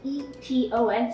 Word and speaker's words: Eton: So the spelling is E-T-O-N, so like please pronounce ETON.